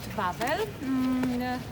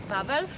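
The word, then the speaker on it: Wawel: huge Limestone rock thank you we call it bubble it's a sour pronunciation it would say something like wow but we say bubble and w a w e l the spelling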